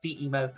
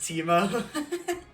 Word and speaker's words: Timo: I actually know who that is, and it's pronounced Timo. Like, that's one of my friends. I do apologize, It's Timo. fine.